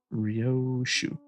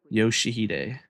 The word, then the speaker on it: Yoshihide: Uh, Rio. No, that's not how you read the those letters. Yoshihide. That's how you say it.